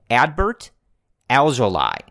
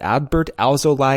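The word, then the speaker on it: Adbert Alzolay: and the official pronunciation ad Bert alveoli so we do Pilates and but it's ly not lay in his last name so I've practiced several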